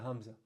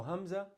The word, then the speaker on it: hamza: And the makhraj of hamza, the point of articulation, is the throat. So at the bottom of the throat. All right. So that same sound that we make when we pronounce the word the word apple. We say apple.